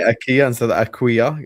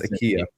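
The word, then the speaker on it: Ekitike: Can you Can you just say aua? It's not Aua, it's Akia.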